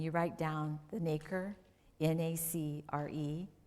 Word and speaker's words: nacre: And then if you look at yourself and you write down the nacre, N-A-C-R-E, pronounced nacre.